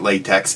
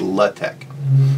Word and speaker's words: LaTeX: Well, first off, lots of folks like to call it LaTeX, and that's fine with me, I do that half the time too, but I believe the correct pronunciation is LaTeX.